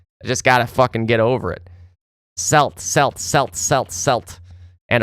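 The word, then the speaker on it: Celts: 22 for Henry on the other bar, 20 for Azilla, 16 for FO, 15 for I see I almost called them Kelts again.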